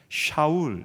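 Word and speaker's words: שאול: 왜냐하면 사울은 히브리어예요. 샤울 이렇게 발음을 하는데 이스라엘 원래 이름입니다.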